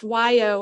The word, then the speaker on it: wai: symbolic weight of water why sometimes pronounced Wyo or way meaning fresh water is